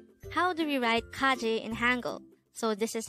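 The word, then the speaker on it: 까지: angle foreign number 202 Kaji this is pronounced the two syllable word the first syllable is Ka second syllable is chi pronounce it with me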